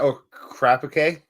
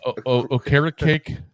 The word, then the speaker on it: Okereke: Is that Okereke? No, Okereke.